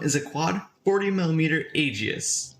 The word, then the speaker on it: Aegis: a quad 40 millimeter Aegis Aegis Aegis I'm pretty sure that's how it's pronounced but it's pretty much